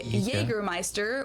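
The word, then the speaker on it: Jägermeister: This is pronounced yea in German. English speakers usually say Jergermeister which is pretty much the same just with a pretty thick accent.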